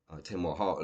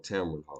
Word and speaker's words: Tamron Hall: Kendra G and uh Tamar Hall, that particular show, but with that particular show or whatever case may be, yeah, I said the name wrong. Tamron Hall, excuse me.